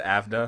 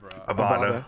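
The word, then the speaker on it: Avada Kedavra: I said Avda. That's fine. That's fair. I said, is it not Avda Kadabra? Avada. Avada. Like avocado. Okay.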